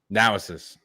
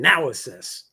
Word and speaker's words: Naosis: happy be here project and I'll pronounce it wrong project NIS now I will never say it wrong again now Isis it's all it took was hearing it now Isis yeah super excited